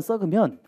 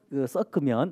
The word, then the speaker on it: 섞으면: 각종 데이터들 조금 몇 개만 썩으면 어 썩으면이 아니고 썩 섞으면 아이 발음이야. 경상도 사나? 이게 발음이 잘 안 나요. 자 섞으면 이해되시겠어요?